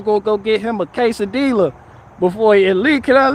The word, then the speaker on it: quesadilla: I say it's quesadilla. I pronounce the L's.